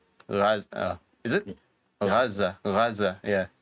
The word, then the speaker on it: Gaza: Like when the word Americans say Gaza, but it's actually Gaza.